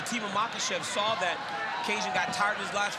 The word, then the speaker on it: Kajan: His first name is to be pronounced Kajan, so don't shoot the messenger. Kajan Johnson.